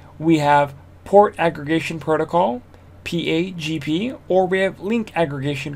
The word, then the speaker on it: PAgP: port aggregation of lac so how do we pronounce pagp we pronounce that pag p it is cisco proprietary